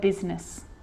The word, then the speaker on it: business: r or rhyme lie good news the i is not usually silent it's usually pronounced except in the word business okay k now i know